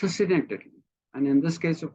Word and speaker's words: synecdoche: It is technically what people call a synecdoche, Synechdeche, pronounced synecdoche, where you confuse the part for the whole or the whole for the part.